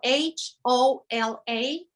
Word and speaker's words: hola: from the ocean yes the age is silent in spanish so it doesn't have any sound and you know it's